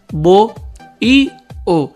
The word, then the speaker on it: bohío: Otro ejemplo, bohío. Mira, tiene H intermedia, fíjate. Se divide así, bo-i-o. La H no impide que se forme el hiato.